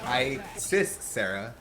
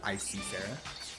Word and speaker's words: Isis Sarah: Gotta confirm that her name is actually pronounced Isis Sarah. So Isis Sarah, not Icy Sarah.